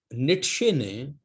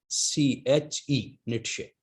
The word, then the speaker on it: Nietzsche: आ भी चुकी है, कि नीट्शे जर्मन फिलोसफर है, नाम के स्पेलिंग में बोलता हूं NIETZSCHE, नीट्शे।